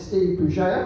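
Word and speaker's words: Bugeja: My name is Steve Bouger. My surname is very difficult to spell. Bugger is how you spell it. If I wouldn't laugh at that, I'm fucking furious. Bugger, B-U-G-E-J-A, give us a follow.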